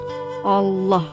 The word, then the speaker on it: Allah: Yaitu harus membaca huruf lam pada lafal Allah itu dengan tebal, yaitu dengan mengangkat semua lidah dan menekankannya ke langit-langit atas sambil menekankan suara yang cukup kuat. Allah, Allah, Allah.